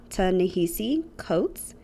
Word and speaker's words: Ta-Nehisi Coates: not butcher her name, but I believe it's Ta-Nehisi Coates, and her name is spelled T-A-N-E-H-I-S-I, and then Coates, C-O-A-T-E-S.